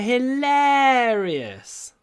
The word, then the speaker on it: hilarious: I think her jokes are hilarious. Her jokes, your jokes, hilarious. Make the air really long. These r vowels, they can be stretched a lot.